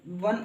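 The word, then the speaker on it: one: भैया, चलो ओ है, लेकिन उच्चारण देखो, वन ही तो लिखोगे इसको, तो ये तो क्या चीज़ है वह, एक कॉन्सोनेंट है यानी व्यंजन है, तो क्या लगाओगे, ए लगाओगे।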